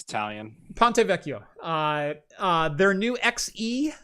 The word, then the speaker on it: Ponte Vecchio: the seven nanometer uh ponte vicio i believe i'm pronouncing that wrong but whatever ponte vecchio ponte vecchio thank you ponte vecchio i i